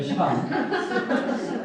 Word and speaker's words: 시반: 시반. 좀 힘들면 시완이라고 하셔야 됩니다. 이스라엘 백성들이 시반과 완 중간 발음을 하거든요.